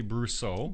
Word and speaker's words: Brosseau: pronounce French names well I always pronounce it brusso brusso okay I love the